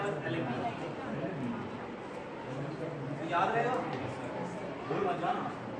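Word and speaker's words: Allen key: मशीनें होती है ना, सब क्या होती है, एलेंकी से खुलती है। एलेंकी बोलते हैं इसको, लिख लो इसको, एलेंकी। इसकी स्पेलिंग है ALLEN, और या फिर इसको L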